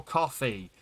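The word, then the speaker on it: Ko-fi: list i have a kofi or coffee which i believe is the proper way you're supposed to pronounce it but it's definitely spelled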